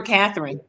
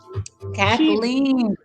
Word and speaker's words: Kathleen: She said I called her Catherine. Kathleen rhymes with queen.